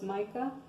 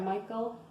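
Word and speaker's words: Michal: will give her his daughter her name was Micah Michael I'm sorry Michael I'm sorry I said it wrong okay um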